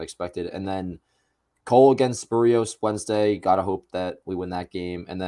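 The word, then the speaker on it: Berríos: I mean against Barrios, which I found out you pronounce it Barrios. Actually, I've been saying Is Barrios. it? Because I've been Yeah, saying Barrios I've been since saying like Barrios my 2017.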